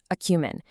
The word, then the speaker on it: acumen: To wrap up our first section, we have a truly phenomenal noun, acumen. Pronounced a-kew-men.